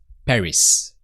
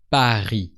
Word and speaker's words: Paris: and then we have Paris which is in French par so you hear that we don't pronounce the S of B because in French you never pronounce the last consonant of words so that's a big